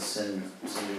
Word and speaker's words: Sindhu: So Hindu first referred to a great river, which is the Sindhu River, and then it referred to the people on the other side of the river.